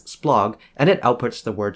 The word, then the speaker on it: SPLOG: For example, this stroke is pronounced as splog and it outputs the word splotography.